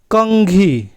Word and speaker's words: कंघी: जैसा हो सकता है जैसे कंघी यहां पर अनुस्वार का उच्चारण क्या है अंग जैसा हुआ वही घंटी तो घंटी